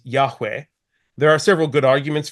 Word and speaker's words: Yahweh: biblical scholarship is that the original pronunciation of the name YH wh that goes on to use in verse 15 was Yahweh there are several good